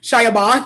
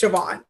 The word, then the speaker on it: Siobhan: So in school they would be like Shiabon, and she's like, it's Siobhan, but it's spelled the Irish way.